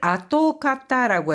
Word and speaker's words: 跡形: 자취나 흔적을 아토카타라고 해서 이 형자를 가타라고 읽었는데 우츠쿠시카타 케이칸가 아름다웠던 경관이 아토카타 모나쿠 기에 우세테 시마이마시다.